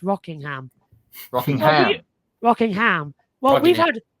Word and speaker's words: Rockingham: That's only because we've had Rockingham for years in the touring cars, pronounced as Rockingham. So Rockingham, it's quite hard to put the twang on it.